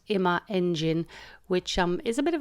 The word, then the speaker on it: Imaengine: in my engine wrong and been calling it imagine so apologies for that but it's actually pronounced ima engine which is a bit of a mouthful but